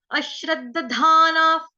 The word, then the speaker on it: अश्रद्दधाना: अश्रद्धाना, अश्रद्ध, ठीक है, सुनो ध्यान से, अश श्रद्ध, अश्रद्धाना, अश्रद्धाना, श्र के साथ पहला वाला द आधा है, दूसरा वाला द दरवाजे वाला पूरा है, फिर धाना, अश्रद्धाना पुरुषा, पुरुषा, पुरुष